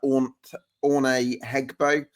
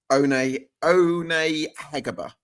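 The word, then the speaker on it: Aune Heggebø: You've got Orne Hegbo and... Owner Hegeba. One Hegeba. Owner Hegeba. It is One pronounced, Hegeba.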